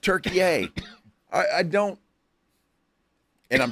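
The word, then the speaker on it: Türkiye: Turkey, eh, is how it's always pronounced. And if you'll notice, they don't spell it Turk- Like what? Like gobble gobble. So Don't do that again, but do that again. So they spell it differently and it's pronounced Turkey, eh.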